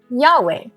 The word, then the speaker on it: Yahweh: We can also read in the scriptures that God's name is pronounced Yod He Vav He, Yahweh.